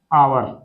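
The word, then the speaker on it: hour: kilometres, 890 kilometres an आवर, इसको आवर पढ़ते हैं ना, या आर पढ़ सकते हो आप, ये एच साइलेंट रहता है ना, इसलिए तो आप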